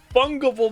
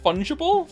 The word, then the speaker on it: fungible: is it wrong what isn't it funable is it fungible funable fungible God damn